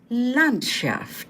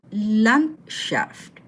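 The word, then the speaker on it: Landschaft: next word landscape the L shaft take note the D in the middle of the word is pronounced as T So L shaft the next word is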